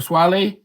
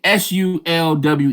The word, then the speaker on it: Sulwe: Nyong'o has landed a Swale, and I'm saying it wrong, Swelwe. Man, Sulwe, y'all. I'm sorry, I pronounced that so wrong.